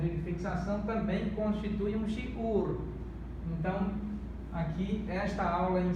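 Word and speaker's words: שיעור: Para recordar, este é o Hirik e este é o Vav Shuruk. Esse apresenta som de I, vogal I e este som de vogal U. Então, shiur, shiur, vamos transliterar shiur, shiur.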